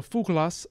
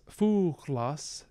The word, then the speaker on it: fuglas: word for bird so fukulas fuchlas this g is actually a fricative i don't know if